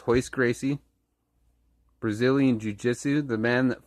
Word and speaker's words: Royce Gracie: come down to grappling his hoist Gracie in this and if you